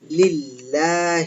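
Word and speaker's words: لله: হবে এরকম লি আল্লাহ এখন প্রোনাউন্সিয়েশনের সুবিধার জন্য প্রোনাউন্সিয়েশনের জন্য আরবরা যেটা করেছে সেটা হচ্ছে যে লিল্লাহি তাহলে অরজিনাল ওয়ার্ডটা হবে লিল্লাহি হি তাই এই শব্দটাকে আমরা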